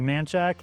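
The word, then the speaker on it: Manchaca: This word looks like manaka. We say manak.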